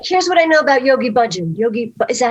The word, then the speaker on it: Yogi Bhajan: okay, here's what I know about Yogi Bhajan.